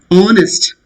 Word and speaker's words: honest: Anyway, honest. It's not honest. Very, very carefully you have to remember these words. It's not honest. H is silent.